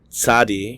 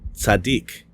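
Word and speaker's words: צדי: also be pronounced yod Sadi can also be pronounced sadik kof can also be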